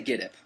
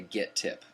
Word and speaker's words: Gittip: thinking it's get tip how do you say it well it depends I say getp and that's a change I used to say get tip and a lot of people still do say get tip and if